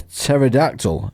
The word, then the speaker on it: pterodactyl: can't you hear a pterodactyl using a toilet because it extinct yeah because the p is silent that's brilliant these are